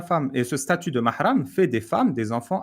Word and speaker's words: Mahram: Ouais, tu sais, Mahram, si je sais tu pas veux, comment tu prononces. Mahram.